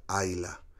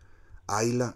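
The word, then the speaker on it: Islay: se escribe is like pero se pronuncia hay la hay la es conocida como la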